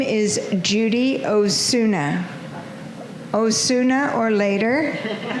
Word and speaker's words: Osuna: And then my dear friend, another friend said, "Please Judy, not Osuna or later, say Osuna the better."